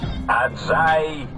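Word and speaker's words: Ajay: я открою вам героя аджай это правильно произносится чем не начнет я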